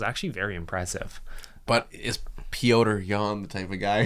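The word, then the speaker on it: Petr: Four seed Brandon Royal verse five seed Peter Yan. It's It's pronounced Pota Yan.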